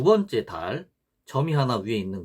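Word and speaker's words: ذال: 그 달은 이게 돼지꼬리 발음, 그러니까 영어 정관사 더 할 때 더처럼 혀가 또 양 이 사이에 나와야 됩니다. 그래서 달, 이런 식으로 발음을 하는 겁니다.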